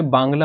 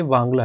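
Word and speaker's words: Wangala: चलते हैं आगे वाला ये है वांगला इसको कई जगह बांगला बोलते तो बट ये वांगला है ठीक है वांगला फेस्टिवल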